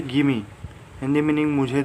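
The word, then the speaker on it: gimme: Next contraction है गिमी, ठीक है, गिव मी। इसे आप क्या पढ़ेंगे, गिमी।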